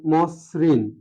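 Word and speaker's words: মসৃণ: কার থাকে তাহলে দেখা যাচ্ছে কি হবে যেমন মসরিন মসরিন মসরিন শব্দটা উচ্চারণ কেমন হবে শুরুতে অ আছে ম এর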